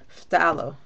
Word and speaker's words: phthalo: It's called, again, phthalo blue. I mean phthalo turquoise. Phthalo is PHTHAL, like basically it's like halo at the end. So it's PH and then T like Tom, TH, and then ALO. Phthalo.